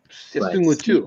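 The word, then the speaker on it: Seung-Woo Choi: Well, it's because you're pronouncing his name in the natural Korean, as you should. Seung-Woo Chu. The announcers always say it wrong, so it's their fault, not yours.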